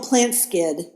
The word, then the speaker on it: Plantskydd: Plant Skid is spelled PLANTSKYDD, and I had never